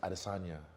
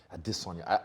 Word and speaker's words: Adesanya: And then second part is I've noticed that when you say your last name, Adesanya.